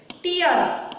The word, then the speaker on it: tear: Tear rhymes with fear.